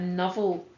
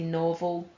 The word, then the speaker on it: novel: Some people pronounce that novel, but I would say novel.